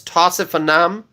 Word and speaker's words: Tausif Anam: Okay, so I know some people have challenges pronouncing my name. It's Tausif Anam.